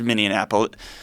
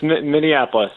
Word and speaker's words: Minneapolis: The city is Minneapolis. Brother. Yeah, it's Minneapolis.